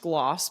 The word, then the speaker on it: Glace: It's pronounced Gloss, but it's spelled Glace.